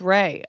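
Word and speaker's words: Rhea: Oh, Ria is apparently pronounced Ray.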